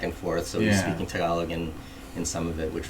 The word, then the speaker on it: Tagalog: But how do you pronounce Tagalog? Tagalog.